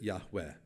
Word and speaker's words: Yahweh: by Jews today but they pronounced it Yahweh if you know Hebrew you're confused because there's no W sound now but there was then so what are the